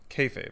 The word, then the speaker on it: kayfabe: forgot about him here we go how to pronounce here we go let's do it kfabe is a term used by pro wrestlers kayfabe well that was easy becca's dad is just